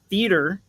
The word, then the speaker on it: theater: A diphthong is when it's a vowel sound that's basically almost like two syllables. The EA in the EA in theater, when I say it, is a diphthong. When you say theater, you're saying it like teeter or beater or meter.